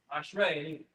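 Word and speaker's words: אשרי: Ashrei, like axe, red.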